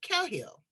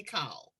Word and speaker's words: Cahill: That's the Australian pronunciation, as we would say, Cahill, but they say Cahill.